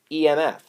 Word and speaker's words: EMF: do I pronounce that you say EMF. When you look at that, you shouldn't say what letter is that or anything, or E. Don't call it E. It's not E. It's pronounced EMF.